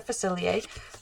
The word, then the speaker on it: Facilier: So a lot of people don't know how to pronounce his name. It's French. It's Dr. Facilier, if you haven't seen the movie.